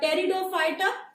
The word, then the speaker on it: Pteridophyta: So we've done Thallophyta, we've done Bryophyta, and we move on to the next one, Pteridophyta, right? Pteridophyta, P is silent, so we do not pronounce that. So they are Pteridophyta, right?